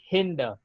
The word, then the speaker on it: hinder: It sound as हिंडर. हिंडर. Okay, इस आर को आप प्रोनाउंस नहीं करोगे, हिंडर द में रहेगा.